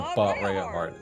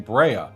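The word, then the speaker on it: Bareahard: So there is a Berahard. See, it sounded like to me that you're saying Brea, not Berea.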